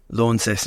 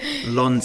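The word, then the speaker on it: Launceston: mutual friend of ours every time I say lawn sess and she goes there not a lawn it's a lawn it's a law yeah you pronounce it like you're an American yeah L they say Brisbane Brisbane Lon Lon uh I had my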